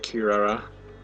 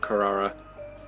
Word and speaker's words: Kirara: Oh, even Easel pronounces it Kirara, not Carrara.